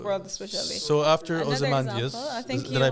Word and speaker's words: Ozymandias: So after Another Ozymandias, example, I think did I pronounce it right? Ozymandias, yeah.